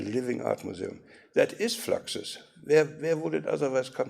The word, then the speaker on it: Fluxus: fluxus and he said it's fluxus because it rhymes with fractures yes yes that's right